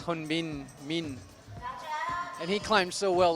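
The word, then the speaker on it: Min Hyun-bin: Yeah, from Korea we have Hyun-Bin Min, and my Korean pronunciation is actually quite bad, obviously, but I believe it's Hyun-Bin Min, and he climbed so well last week.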